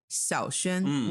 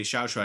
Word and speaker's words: Xiaoxuan: Well, I mean, they could just drop the tones and just say Xiaoshuan.